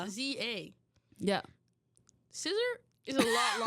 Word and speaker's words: SZA: So when I first found out who SZA was, I did refer to her as Scissor. Why? Because that's what her name is. No, it's SZA. It's SZA.